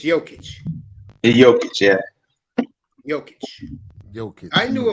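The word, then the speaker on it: Jokić: Well, how do you pronounce it? Is it Jokic or is it Jokic? It's Jokic.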